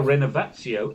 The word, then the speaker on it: Renovatio: Now, Renovatio is a particular pronunciation assuming a certain Italian or Latinate origin. Mm-hmm. But it needn't be pronounced that way. Okay, so how will it be? I don't know, I'm just saying, but there's no, not Cio, but Tio, for instance.